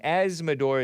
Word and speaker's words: Azzmador: And Asmodor is spelled AZZMADOR. Some of you guys think I'm saying asthma, like the breathing condition that those kids get from those gas ovens or stoves or whatever.